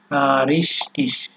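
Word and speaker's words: richtig: যেমন ফেয়ারসিস, যদি স ধরেন আপনি, তাহলে এটা বলা যায় ফেয়ারসিস, অথবা ফেয়ারসিক, গ উচ্চারণ করে বলতে পারেন। এরপরে আছে হচ্ছে আপনার রিস্টিস, ঠিক আছে, অথবা রিস্টিং।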